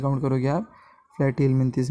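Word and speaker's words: Platyhelminthes: Flat, उसका pronunciation प्लैटीहेलमिन्थिस है। Flirty मतलब फ्लैट मतलब क्या?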